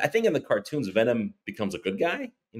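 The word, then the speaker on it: Venum: There is also an MMA clothing and gear maker called Venom, but it's spelled V-E-N-U-M.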